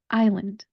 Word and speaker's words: island: We're going to take our syllables and make our word. I, lund, I, lund. Put it all together, island, island.